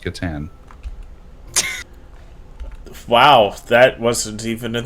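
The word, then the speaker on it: Catan: by one dream thief hello and it's still pronounced katan wow that wasn't even in the video i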